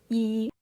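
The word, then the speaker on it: 一: It's the number one and it's pronounced E.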